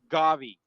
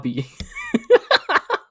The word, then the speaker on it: Gabi: Fuck Gavi. Who? Gabby. Fuck. I think I said it wrong. Gabi.